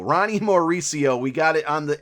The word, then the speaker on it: Mauricio: you're going to want to go with ronnie marcio marcy i'm just i'm i can't say his name i took a break and i figured it out and it's mauricio ronnie mauricio we got it on the eighth try uh